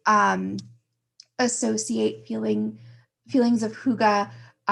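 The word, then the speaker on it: hygge: me uh pronounce it again it's called It's pronounced Huga it's spelled Hy G G and it's a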